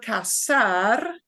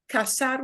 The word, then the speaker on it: casar: we took that verb casar uh c-a-s-a-r because there is a verb c-a-z-a-r it has the same pronunciation right but that is